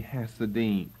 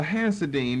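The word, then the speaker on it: Hasidim: broad one now the hasodim you see them back on your outline the the the H there in Hebrew is really the the CH or the hard H the K the hasidine but you could pronounce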